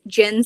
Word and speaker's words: Gin: fast Feast repeat by jyn Stevens jyn spelled like the drink g i n I don't know if